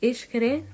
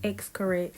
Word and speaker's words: Xcaret: And of course, you'll see this, like, Xcaret, I believe that's how you say it. Like, at first I was saying Xcaret, so I'm sure a lot of y'all say Xcaret too.